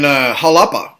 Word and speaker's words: Xalapa: Olmec heads in Mexico, in Jalapa, spelled with an X, Xalapa.